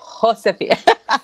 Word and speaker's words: Josefina: It's Josefina. Sorry, I know. Everyone has always mispronounced my name growing up.